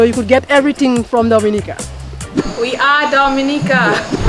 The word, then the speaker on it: Dominica: Dominica it is spelled d-o-m-i-n-i-c-e it is not Dominican Republic it is pronounced Dominica and is situated between Guadalupe and